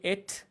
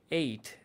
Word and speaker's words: ate: একটু দীর্ঘায়িত ইট আচ্ছা আর পাস্ট হচ্ছে দুইটা একটা হচ্ছে আমরা জানি এট আর একটা হচ্ছে উচ্চারণ দুইটা হয় একটা হচ্ছে এট আর হচ্ছে সাতের পরে যে নাম্বারটা আট সেটার ইংরেজি এইট সো ইটের পাস্ট হচ্ছে এট এটাও বলতে পারি আবার এইট এটাও বলতে